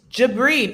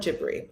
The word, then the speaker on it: Jabri: it's not wait it's dippery it's jabri two syllable gebry debris i think it's like debris wait it's ja bree you're making me crazy wah honestly it's like debris with a soft g with a soft g